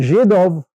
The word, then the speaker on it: Židov: So Z is pronounced Z. If you put a hook off, it's a J. And Židov in Croatian means Jew.